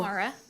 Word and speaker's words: Mara: concerns thank you Reverend are you Myra did I pronounce that right go Mara all right Mara go ahead please the